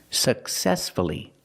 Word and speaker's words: successfully: successfully for many years successfully successfully the stress is on the second syllable so we pronounce the U uhuh successfully let's practice did he